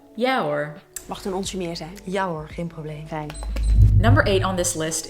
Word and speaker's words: ja hoor: the way pronunciation tip people tend to really combine the "hoor" with the word they use before it so it's not "ja" "hoor" but "ja hoor" Number eight on this